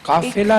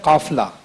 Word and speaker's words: قافلہ: ایک جہاں آپ نے پڑھا ہے قافلہ, قافلہ نہیں ہے, لفظ ہے قافلہ.